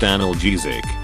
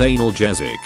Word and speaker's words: analgesic: expecting to get sick that's actually pronounced analgesic not anal jezik sir the pills go in your mouth thanks dr.